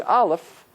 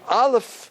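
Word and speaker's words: אלף: of hummus on dirt listen how I pronounce now did you hear it there's no sound it's connected with something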